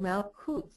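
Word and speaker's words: Malkuth: and the name of that seph is called malut m a l k u t h um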